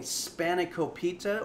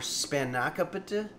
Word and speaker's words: Spanakopita: making today we're making spanakopita or spanakopita or spanakapita or spanikapita or spanakopita uh you can put the uh you can stress whichever syllable that you want which is true for most greek words it's mostly a spanna